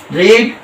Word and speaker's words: read: Form ही लगता है, इसलिए रीड का रेड, रीड रेड रेड होता है, लेकिन स्पेलिंग सेम टू सेम होती है। केवल हम प्रोनाउंसिएशन जब करते हैं तो वहां पर हम रीड रेड रेड बोलते हैं, बट spellings are in